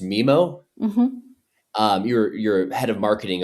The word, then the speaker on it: Mimo: Is it pronounced Mimo?